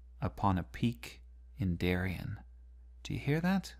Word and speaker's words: Darien: Darien and notice that we don't end with a stress so much it's more like Darien and usually the iambic